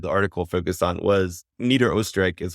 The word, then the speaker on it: Niederösterreich: And the main region that the article focused on was Niederösterreich, is how you say it in Austrian, is